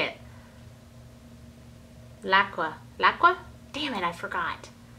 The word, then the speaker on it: LAQA: how to say it laqua laa damn it I forgot laa laa it's called laca now I know laca and Company so it's